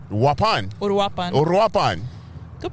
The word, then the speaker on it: Uruapan: other kitas place I think right wapan Uruapan Uruapan good pronunciation look at you but if I gave